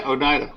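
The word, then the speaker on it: Oneida: Onida New York is that the how you pronounce it yeah Onida Onida okay it was called Orion and and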